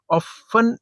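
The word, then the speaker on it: often: Unemployment and economic hardships of ऑफ ऑफन, या इसको ऑफ्टन भी कह देते हैं, प्रोनाउंसिएशन में फर्क है, लीड्स टू सुसाइड्स।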